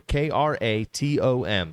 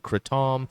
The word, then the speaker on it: kratom: that i'm drinking here k-r-a-t-o-m some pronounce it kratom some say kratom some say kratom it's